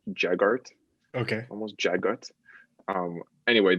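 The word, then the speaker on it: Jaghut: or jega it's like spelled j-a-g-h-u-t but it's pronounced like jagga jaggart okay almost jaguars um anyway they're like these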